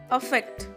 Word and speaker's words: affect: जो second word है अफेक्ट, AFFECT, यहाँ पे अफेक्ट अ का प्रोनाउंसिएशन होना चाहिए।